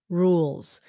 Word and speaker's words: rules: s or Z rules rules z sound rules y because the E is silent and it turns the U into a long vowel rules okay how did